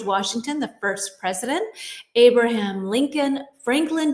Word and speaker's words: Lincoln: And a lot of people try to say Lincoln, but Lincoln. It's one of these words. Just trust me on it.